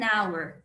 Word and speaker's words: hour: Por exemplo, a house e an hour. Já dá para perceber pela pronúncia da palavra que house tem um som de R e hour tem um som de A, né?